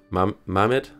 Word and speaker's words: Mehmet: Hope I somehow found a way to pronounce that right. Mehmet? Yeah, I finally just... Mehmet, you have to scroll back and watch that landing.